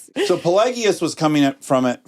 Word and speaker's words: Pelagius: And his intellectual adversary was, how do you say I think it's Pelagius, but some people say Pelagius. So Pelagius was coming at from it from the opposite point of view.